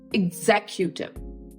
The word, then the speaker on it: executive: the sentence so again ex is not X EX is IG G so X it's IG as an igloo in as in previous words I have talked about so it's executive executive executive you can